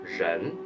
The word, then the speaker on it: 人: person and people and in pinging this character reads as Jen are E and with a second tone chené chené and when you